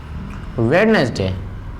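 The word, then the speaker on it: Wednesday: यहाँ पे एक चीज ध्यान रखिए, डी और जी का कॉम्बिनेशन जब भी आए तो डी का प्रोनाउंसिएशन नहीं होगा। जैसे मैंने लिखा सैंडविच, आई होप आपने कहा होगा सैंडविच। जैसे मैंने लिखा वेडनेसडे, आई होप आप लोगों ने सबने वेडनेसडे ही कहा होगा।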